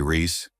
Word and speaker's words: Reese: brother and say, "Hey, Reese, come here," pronounced like rice.